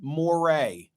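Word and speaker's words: moiré: I don't know if it's Unique to television Moray I looked it up online they spell it m-o-i-r-e and it means that it's a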